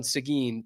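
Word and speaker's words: Seguin: They pronounced the town Sigin, but it is spelled exactly like Tyler Sean.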